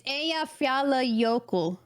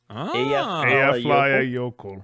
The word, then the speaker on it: Eyjafjallajökull: Oh, It's Eyjafjallajökull. Eyjafjalla Jökull.